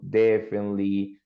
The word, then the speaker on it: definitely: But careful with the pronunciation. Definitely. Not I, not, well, the T sounds, but not I and not E.